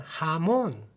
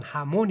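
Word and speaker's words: jamón: 스페인의 돼지 뒷다리로 만드는 하몬 하몽이랑 발음합니다 원래는 하몬 있데 하몬 하몬이 합니다 발음이 잘 안 되네요 이거는 뭐가 하면은 염지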